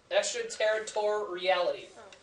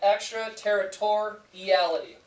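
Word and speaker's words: extraterritoriality: foreign soil extra terity extra territoriality if you want to split this up and how to pronounce it you have extra territoriality then you just put it all together extra territoriality okay great job term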